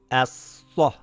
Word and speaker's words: أَصَّ: أَصَّThis reads ASsa, ASsa, Great.